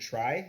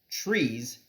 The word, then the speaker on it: trie: so they were actually originally called trees as in retrieval but of course that would be super confusing if you pronounce TR ie tree because we already pronounce TR EE s tree so they change this pronounciation now to try to make it less confusing so a try as